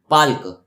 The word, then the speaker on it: Palk: यहाँ पे जो पाक है उसका स्पेलिंग क्या होगा? PALK, पाल्क।